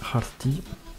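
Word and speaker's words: χαρτί: Ensuite, le X qui se prononce H, donc Harti, qui veut dire papier, et Hara, qui veut dire joy, la joie.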